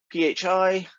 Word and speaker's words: phi: are phi and theta phi looks like that p h i pronounced as phi in the same way you pronounce phone it's got that sound in it and theta is the